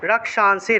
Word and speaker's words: রক্ষাংসি: রক্ষাংসি অনুস্বার শব্দের মাঝখানে থাকায় নয়ের মতো উচ্চারণ, রক্ষাংসি।